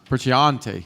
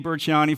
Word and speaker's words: Burchianti: And our final presenter of New Beverage Showdown 16 is Burchianti. Did I pronounce it correctly? Burchianti, I got it, of Hubble. Come on. Thanks, Ray. Uh-oh. Hi, I'm Burchianti, founder and CEO of Hubble out of Manhattan Beach, California.